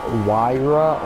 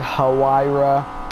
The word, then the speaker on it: Huayra: I've already said this before, but you know, like Pagani Huayra or Huayra, depending on how you pronounce it.